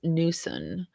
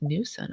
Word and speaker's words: Knutson: Quick FYI, in Utah, Knutson is pronounced Newson, and some Knutsons with the K being sounded and not silent.